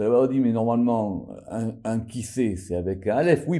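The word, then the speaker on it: כסא: Et donc, cet endroit-là qui soutient les choses, ça s'appelle kissé. Alors, kos, ça s'écrit kaf, vav, samer, et kissé, ça s'écrit kaf, samer, aleph.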